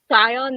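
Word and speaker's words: Thyon: it was funny though how Zion that's how you say his name right it's such a random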